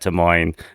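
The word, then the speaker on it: Des Moines: I think there's a lot of names, especially um at De Moines, um which the S is silent, as Ronkumer tells me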